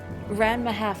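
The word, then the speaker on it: Ranma ½: Ranma half, thank you.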